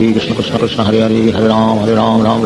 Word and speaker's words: राम: सारे followers foreigners थे, तो इसीलिए उनका जो उच्चारण है वो राम से रामा हो गया और धीरे धीरे करके कृष्ण से कृष्णा हो गया।